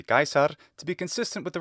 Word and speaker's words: Caesar: explained in this video there is more than one way to pronounce this name but Cesar is not consistent with the pronunciation system that he's using which is of course the ecclesiastical pronunciation because if you couldn't tell this voice actor is Italian I rehabilitate Latin I train people if you were using classical pronunciation it should be gaisar to be consistent with